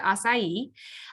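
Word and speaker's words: açaí: is the acai berry and that's how you pronounce it acai um the acai berry is small round black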